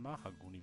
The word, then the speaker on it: Mahagoni: Und dann irgendwas Helles noch so als Kontrast oder irgendwas Bordeaux, Mahagoni, ja, ist es nicht Mahagoni? Nicht Maha, ne? Mahagoni. Nicht Mara, sondern Mahagoni, wie das ausgesprochen, okay.